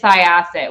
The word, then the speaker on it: Syosset: And even though Mike was not even in the room, I went, it's Syosset without even thinking about it.